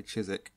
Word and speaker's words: Chiswick: my phone's autocorrect well because we're British we like to have excessive amount of like letters that we don't pronounce so despite Rizk it's